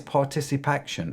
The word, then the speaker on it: ParticipACTION: Forgive my ignorance, but what is Particip Action? Did I pronounce that right, or did I butcher it?